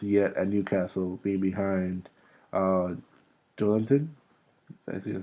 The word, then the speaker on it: Joelinton: And he has not got a great chance yet at Newcastle, being behind Joelinton. That's how you say it? Joelinton, yeah.